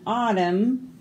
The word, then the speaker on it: autumn: N is for naughty children who will sing a solemn hymn when autumn comes to an end. All of these N's we didn't say, did we? They were all silent.